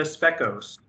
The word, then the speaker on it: Specos: I'm very pleased to welcome the beautiful IFBB Women's Physique Pro, Specos. Is that the right pronunciation for your last name?